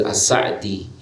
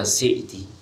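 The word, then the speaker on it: As-Sa'di: yang perlu kita sampaikan Aceh assa’id namun biasa di masyarakat kita atau teman-teman menyebutnya Syekh Abdurrahman Bin Nasir assa'adi yang benar bacanya asik di mana beliau menjelaskan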